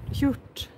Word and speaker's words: hjort: Hjort. Man ska inte säga sj där.